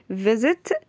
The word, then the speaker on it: visit: put i e d visit visit يزور ال s here it pronounced like z visit z z z, z okay It will become visited, visited, okay?